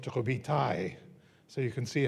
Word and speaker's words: Robitaille: His last name when he was baptized in Canada was Robitaille, pronounced Robitaille.